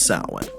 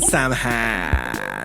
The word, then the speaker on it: Samhain: It's technically pronounced Samhain. And I'm only saying that. Yeah, I'm only saying that because you don't want to be a poser and walk around and call it Samhain.